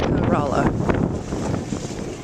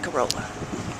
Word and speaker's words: Corolla: No, it's actually pronounced Corolla. So, don't be afraid to pronounce it the correct way. It's not Corolla.